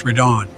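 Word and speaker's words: Radahn: of us fighting consort ridon to explain my gear I may have lapses of thought but even I know it's pronounced redon potato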